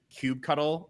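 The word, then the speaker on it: kubectl: of like the same thing with like uh cube cuddle and how some people know cto yeah control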